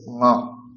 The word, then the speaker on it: ঙ: এইটা হয়ে গেলে এখানে আমরা একটা ডট দিয়ে দেব, তাহলে এটা হয়ে যাবে ঙ। ঙ, নাকে উচ্চারণ হবে এবং কণ্ঠে, নাক এবং কণ্ঠ।